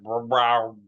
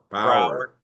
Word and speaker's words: Bauer: No, you said, but you said Brower. Brower Bower.